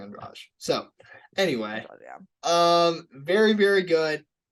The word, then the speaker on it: Andrade: oh yeah all right it's not Andrade I just look I'm not the best at pronouncing names so I'm not one to talk but it's Jessica and Raj so anyway um very